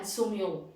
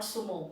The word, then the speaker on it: sumo: two karate judo sumo this is what we speak like in india but then it is karate it is judo and sumyo it is not sumo it is that is the japanese word these are forms of